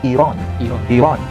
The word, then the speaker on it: Iran: Sedangkan istilah Iran sebetulnya yang tepat itu bukan Iran. Itu bahasa kita, bahasa Indonesia. Yang benar, cara pengucapan yang benar itu adalah Iran.